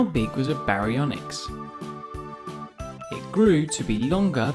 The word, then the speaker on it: Baryonyx: baryonyx how do you say that again ba re on x how big was a baryonyx it grew to be longer than a bus